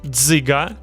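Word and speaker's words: дзиґа: Dziga, a spinning top, DZ plus soft Y and hard G.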